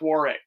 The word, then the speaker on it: Warwick: warwick warwick no it's warwick warwick yeah the w is silent warwick who's doing it